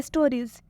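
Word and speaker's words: stories: और ई आया है तो इसका उच्चारण क्या हुआ है ज से हुआ है स्टो स्टोरीज मतलब होता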